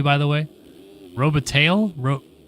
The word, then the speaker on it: Robitaille: Robitaille? Robitaille? Robitaille, okay.